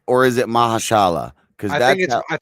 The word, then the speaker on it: Mahershala: Are you saying it right, or is it Mahashala? Because I think it's Mahershala.